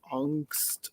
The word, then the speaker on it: angst: to angst or angst I'm gonna pronounce it angst in this poem which is the way we said it in the 90s in America but I also studied German and it is the German word for fear and anxiety angst